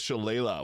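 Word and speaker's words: Shillelagh: So, we'll first start off with the druid here cuz this gives us Shala, which is super useful, or Shalle if you pronounce it that way.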